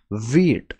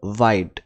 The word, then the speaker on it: Vite: taking a look at v8 or white i don't know how to pronounce it but i have heard it's called wheat so it's it's a